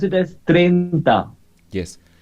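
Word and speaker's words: treinta: we pronounce it as trenta yes in spanish you should pronounce everything for example if i say these are two vowels e and i i gonna pronounce trenta trenta i pronounce everything it is writing i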